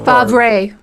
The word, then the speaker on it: Favre: yep long time packers quarterback brett pronounced fabre build favorite yeah oh yes favre favre okay did we